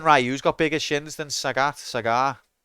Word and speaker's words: Sagat: the last boss anyway Sagat sag rhymes with um bigat yeah that's what I